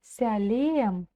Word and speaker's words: Сәлем: Сялем. Ся. Как произнести букву Очень просто, как в слове мяч.